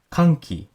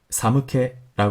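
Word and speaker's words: 寒気: 쓰는 단어에 대해서 입니다 잃는 방법이 2가지가 있습니다 캉 키 라고 읽으면 참 공기 추 이란 뜻이 되고 사무 캐라 긁으면 추운 느낌 이런 뜻이 됩니다 1 은 방법에 따라서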